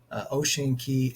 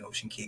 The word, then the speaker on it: Ocean Cay: as I know the the correct pronunciation is key uh kind of like uh Key West that type of thing